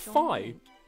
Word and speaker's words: Fi: Oh, it's pronounced Fi. And together they drove away the dragon knight Volga. But despite the victory, I didn't know it's pronounced Fi.